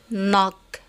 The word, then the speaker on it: knock: داون نيل داون، نوك knock، knowledge knowledge. إذن نلاحظ أن هذه المجموعة الثانية من الأمثلة لم ننطق فيها حرف كي، ونلاحظ أن الحرف كي في كل كلمات متبوع بحرف ان.